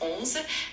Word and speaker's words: onze: In French, 11 is pronounced as onze, and it sounds a bit like onze with a soft N sound at the beginning.